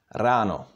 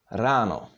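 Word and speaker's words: ráno: the words in check the stress is always on the first syllable in the word so even if there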